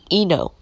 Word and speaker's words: Eno: This is my dad's gravesite, and his name is pronounced Eno, 1 spelled backwards.